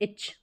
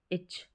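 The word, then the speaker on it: itch: ये ईच और ये इच, ईच और इच, इस इच होना यानी खुजली होना, और ये ईच प्रत्येक, दोनों का मतलब अलग है, उच्चारण भी अलग है, स्पेलिंग भी अलग है।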